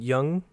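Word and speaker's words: Yeun: I wasn't big on some of the voice acting at first, with the character of Mark, voiced by Stephen Yoon?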